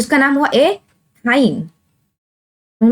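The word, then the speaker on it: ethyne: अब इसके बीच में क्या है ट्रिपल बॉन्ड है, तो इसका नाम हुआ एथाइन। समझ में आ गया आपको, यानी सिंगल बॉन्ड में एन की प्रोनाउंसिएशन आ रही है, डबल बॉन्ड में इन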